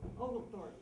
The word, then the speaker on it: Oglethorpe: Am I pronouncing that correctly, Martha? Oglethorpe, yes.